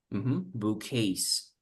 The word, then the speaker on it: bouquets: buckets, Bouquets. bouquets. Bouquets. Yeah, bouquets. With the sound of the T, bouquets. Without T. Without Without T, T, yeah.